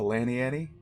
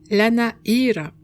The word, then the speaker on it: Lana'yra: proposing a trip to lanny annie it is properly pronounced la na era we'll need to briefly